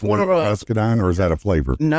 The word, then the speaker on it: muscadine: It actually has muscadine grapes added to it, and that's where it gets.